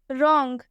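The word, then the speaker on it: wrong: W silent होता है दूसरा रूल ये है कि आर से पहले अगर डब्लू आता है तो डब्लू साइलेंट होता है एग्जांपल में आप देख सकते हैं रंग आर से पहले आ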